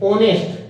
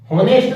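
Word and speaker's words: honest: ओनेस्ट। होनेस्ट नहीं पढ़ते हैं, क्या पढ़ते हैं? ओनेस्ट।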